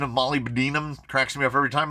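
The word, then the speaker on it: molybdenum: like so much mold release on it the pronunciation of Molly Binum cracks me up every time Molly Binum is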